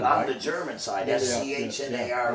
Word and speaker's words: Schnarre: It should be Schnar, SCHNARRE.